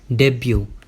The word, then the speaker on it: debut: डेब्यू। डेब्यू। आपने सुना होगा कि आज उस खिलाड़ी ने डेब्यू किया, अपना पहला मैच खेला। इसके एंड में तो टी आता है, लेकिन वो साइलेंट होता है।